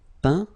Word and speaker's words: peint: Okay, as usual, final T not pronounced. Atteint, éteint, feint, peint, teint.